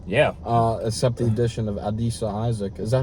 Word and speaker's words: Adisa Isaac: except the addition of Adisa Isaac. Is that how you say his name? Adisa, yes.